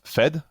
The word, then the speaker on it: F3D: I think it's called Uh so we we call that fed uh the three is any yeah you know but we all always uh nobody uh say it correctly the first time that's perfectly fine so